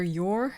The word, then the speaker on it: Yor: back with the character you're or yoru is how they pronounce it in the anime i started off by